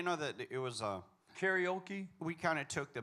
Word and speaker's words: karaoke: better than anybody else because most people say it wrong karoki they don't understand it